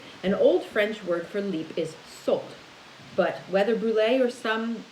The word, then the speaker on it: Sault: You might pronounce it Sault. I don't know. It's S-A-U-L-T.